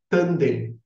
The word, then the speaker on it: Tanden: originário da filosofia chinesa, que em chinês é chamado de Dantian e em japonês é chamado de Tanden. Tanden é a pronúncia japonesa destes mesmos ideogramas, desses caracteres chineses que